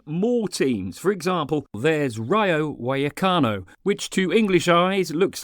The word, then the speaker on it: Rayo Vallecano: there are even more teams for example there's Ryo wakano which to English eyes looks like it's pronounced Ryo valano but I thought I'd have a crack the